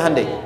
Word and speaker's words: Hyundai: bikin Honda sini hundai Hyundai kan dibacanya hundai ya kan sana Honda sini